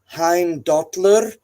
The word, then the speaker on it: Heimdallr: Just like much of the times with say Heimdallr, the R at the end of Heimdall's name is oftentimes read as its own syllable.